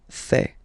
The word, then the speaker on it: fais: Je fais. Remember, final S not pronounced.